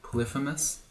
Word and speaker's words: Polyphemus: This Catoplepus plus all these death yaks is probably an indication that we're about to meet Polyphemus.